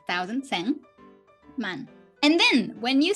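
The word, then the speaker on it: 万: right ten k but we have a different name for ten k ten thousand which is men so one man right but then ju man hundred thousand we say jew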